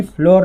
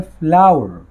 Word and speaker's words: flour: ये फ्लोर नहीं है, ये है फ्लावर। फ्लावर आटे को कहा जाता है और फ्लावर फूल को भी कहा जाता है, लेकिन आप देख सकते हो इसके स्पेलिंग में डिफरेंस है।